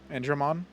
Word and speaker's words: Andron: believe it is uh do you pronounce it an andron is that how to pronounce your brother's name andron uh andron yeah andron I do I do